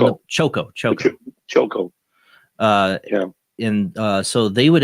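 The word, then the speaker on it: Chocó: How do you say the name of Choco?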